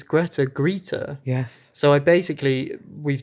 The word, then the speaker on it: Greta: think it's a it's a legitimate pronunciation in Germany German speaking places so that's just one